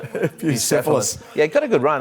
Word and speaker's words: Bucephalus: How are we pronouncing this? The gelded son of... Bucephalus, I think, is the right... Bucephalus.